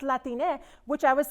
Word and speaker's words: Latine: new york someone corrected me and said it's pronounced latine which i was like thank you right because